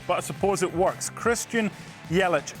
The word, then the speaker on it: Yelich: it to you again rhyming with belly is Yeley tenuous but suppose it works Christian Yelich not one but two